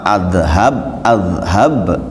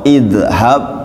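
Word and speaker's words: اذهب: sukun Bacanya apa apa azhab atau izhab atau udzhab tadi rumusnya apa kalau berharakat Fattah atau kasar dibaca kasrah jadi bahasanya jadi kalau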